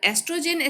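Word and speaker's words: oestrogen: Here estrogen starts from the O but pronunciation is estrogen. The spelling of the estrogen starts from O, but nowadays this is adopted to write estrogens.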